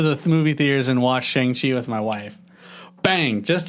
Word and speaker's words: Shang-Chi: actually have a scene where it's like it's pronounced shang chi yeah because his name is sean but we're